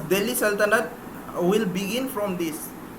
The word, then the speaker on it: सल्तनत: Arabic term ही है, ये इसको एक्चुअल प्रोनाउंसिएशन इसका सल्तनत ही है, बट when an English speaker says this, they pronounce it as sultanate.